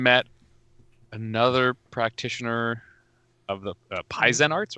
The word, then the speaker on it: Paizen: P-A-I-Z-E-N. I don't know. I like to where the pretend emphasis it's or stress is. pronounced like Paizo. Paizen.